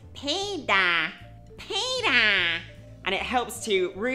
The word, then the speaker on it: Peter: You're not really gonna pronounce the T because it's not very strong. So it's more of a D. It's Peter, Peter.